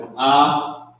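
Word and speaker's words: אתה: So how you pronounce this is Atha.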